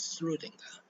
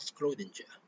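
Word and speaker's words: Schrödinger: Schrodinger is an Austrian, so it's pronounced as Schrodinger, not Schrodinger. It's pronounced as Schrodinger.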